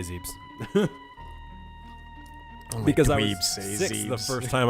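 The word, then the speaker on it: Zebes: know in the planet zebus I've heard people pronounce it zebbs before if you can if you can believe that that's a pretty wild one yeah yeah I say zebs because six the first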